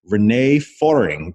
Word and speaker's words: René Föhring: libraries Credo and we're joined by the author Renee foring did I pronounce that right Renee hi there yes you